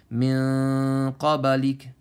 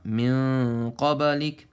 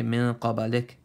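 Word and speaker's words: مِن قَبْلِكَ: Min qabalik. And give a little bit of e sound at the end. Some people they say min qabalik.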